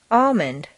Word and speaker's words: almond: five seven silent ELLs once you've found all the L sounds the good news is that very often you don't even have to pronounce them read the following list